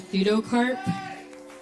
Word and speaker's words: Pseudocarp: And my artist name is Pseudocarp. It's spelled P-S-E-U-D-O-C-A-R-P.